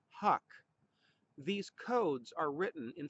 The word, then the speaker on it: HUC: Just as every house has an address, every watershed has an address called a hydrologic unit code, or HUC, we sometimes pronounce it huck.